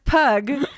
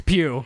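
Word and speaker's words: Pugh: moving right along florence pug address you that i don't even know who that is and i know that it's pew if she wants it to be pronounced grammar police over here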